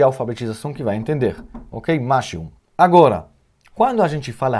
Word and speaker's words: משהו: Então, a pronúncia, vamos dizer, correta, será Mashehu, ou mais rápido, Mashehu. Mashehu, ok? Temos mem com patach, ma, shin com segol, she, e re com shuruk. Então, hu. Mashehu.